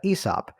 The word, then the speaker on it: Aesop: So while that's brewing in the background, and you corrected me on the pronunciation, so thank you for that, Aesop.